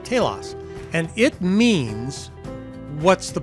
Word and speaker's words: Telos: for your entire life one is the word Telos tlos it's Greek word nobody knows how to pronounce it because that part of Greek is a dead language so we'll call it Talos and it means what's